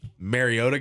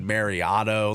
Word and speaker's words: Mariota: Well, it's kind of like um Goodell when um Mariota got drafted. He said Mariano.